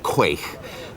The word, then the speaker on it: quaich: There's pronunciations but the usual one is quaich, which is actually